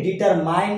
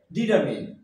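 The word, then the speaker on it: determine: প্রায় বলে থাকি ডেঙ্গু কি বলি ডেঙ্গু কিন্তু উচ্চারণ হবে ডেঙ্গি ডেঙ্গি ডেঙ্গি আমরা এটাকে ডিটারমাইন বলে থাকি কি বলে থাকি ডিটারমাইন কিন্তু আদ উচ্চারণ হবে ডিটারমিন ডিটারমিন ডিটারমাইন ট ডিটারমিন ওকে নেক্সট আবার খেয়াল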